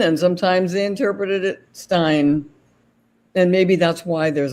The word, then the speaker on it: Bernstein: I thought I'd mentioned it's Stein I don't know why it's Stein really so in in the United States s-t-e-i-n is usually pronounced Steen and I don't know why